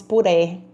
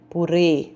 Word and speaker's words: purê: Se não fosse o acento circunflexo, falaríamos puré. Então, o circunflexo fecha esse som. Purê.